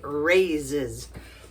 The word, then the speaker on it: raise: that's fun to say raises then to collect or gather we're going to raise some money for a good cause raise it's got that Z at the end you got to feel